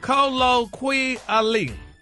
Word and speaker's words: colloquially: No, you didn't pronounce the Q-quia. It's colloquia. Colloquially. Colloquia.